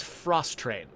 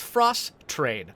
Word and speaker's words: Frostrain: I'm trying to pronounce that very carefully because it looks like maybe you could call it Frost Rain, but it's Frost Train, I'm pretty sure, because there are train tracks at the bottom of the screen, and I'm pretty sure